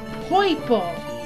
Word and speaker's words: Poipole: I'm like, Poipole. Poipole. His name is Poipole. How fitting. I just had to read it slowly to myself every time. Just Poipole. It's just purple. But pronounced stupidly.